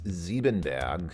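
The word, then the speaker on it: Siebenberg: music by Bob again the German pronunciation is zeben bag but uh I think he would just say seberg because you know OB you know again he's he's not German where is he from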